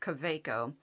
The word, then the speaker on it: Kaweco: This is, I thought it was Kaweco, but I hear it pronounced Kaweco.